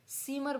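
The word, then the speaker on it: Zimmer: आगे देखिए वर्ड्स में दास सीमर सीमर बोलेंगे जीमर नहीं बोलेंगे सीमर द सीमर रूम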